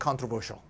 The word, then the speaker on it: controversial: controversy, controversial. C-S-I-A-L이라서 발음이 셜이 됩니다.